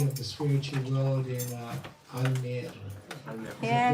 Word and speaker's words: Almere: You have made an embassy of the spiritual world in Almere. yeah, Did I say it right? Almere. Almere. And it's beautiful.